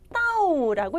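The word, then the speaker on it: 倒: 자, 따오라고 읽으시면 돼요.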